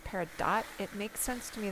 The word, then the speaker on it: peridot: schooled i've been schooled peridot well i have five of them wait six of them they're all low potential though you do actually pronounce the t okay peridot dodd pear